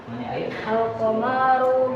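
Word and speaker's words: القمر: makna se alqamaru baid nah salahunnya enggak ada mad di situ. Enggak ada huruf mad di situ. Qaru baridun. Antum baca yang gini bang. Ah, antum baca yang gini. Antum bacanya ada mad di sini. Alqamaru. Alqamaru baid. Nah, gitu. Alqamaru baidun. Alqamaru baidun. Jadi perhatikan ya panjang pendeknya ya. Yang enggak yang pendek jangan dipanjangkan. Panjang jangan dipendekkan.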